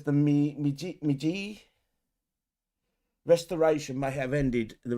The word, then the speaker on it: Meiji: Meiji Restoration may have ended the reign of the samurai. I'm pronouncing it wrong.